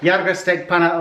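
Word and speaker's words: Jägarstekpanna: mine called Christian Bunky, who taught me how to say it on a voicemail message, and I played it over and over again until I could say Jagerstekpanna original without mistakes.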